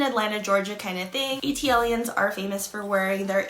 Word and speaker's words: ATLiens: A lot of people don't know how to pronounce this, and it is ATLIENS because they are from Georgia.